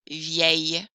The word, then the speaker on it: vieil: If your mouth is open and the next word starts with a vowel, I'm going to need to fix that with belle, nouvelle, vieille. instead. That pronunciation error doesn't happen